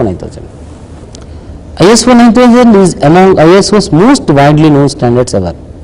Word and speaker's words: isos: Pronunciation is ISOS. ISOS you should pronounce as ISOS. H you should pronounce as SOS.